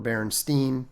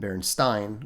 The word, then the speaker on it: Berenstain: The pronunciations that people always used were Berenstein was the more common one, and Berenstain, which was closer to what would have been the correct pronunciation.